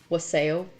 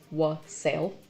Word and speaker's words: wassail: Oh, that was one of my favorite things that I made yesterday was wassail, which Tim keeps pronouncing as wassail. It's wassail. I've been saying it wrong all this time.